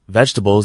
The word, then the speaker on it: vegetables: For instance, vegetables is usually pronounced with just three syllables.